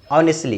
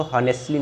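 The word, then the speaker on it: honestly: अब यहाँ पे देखिए, ईमानदारी से या ईमानदारी पूर्वक, तो उसको इंग्लिश में कैसे बोलेंगे, हॉनेस्टली, ऑनेस्टली, इसको हॉनेस्टली नहीं बोलते, ऑनेस्टली, ईमानदारी से, और ऑनेस्टली, ठीक है।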